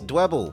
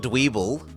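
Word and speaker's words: Dwebble: faster than Krabby yes dble because it rhymes with Pebble it's not dweeble it's not saying I'm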